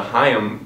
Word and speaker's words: HAIM: how to pronounce things not H like I originally thought or even time anyways getting back to